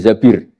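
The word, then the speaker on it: az-Zabir: nikah sama Abdurrahman Bin Zabir di di hadis ini bukan bacanya bukan Zubair tapi Zabir Abdurrahman bin zbir tapi orang Arab itu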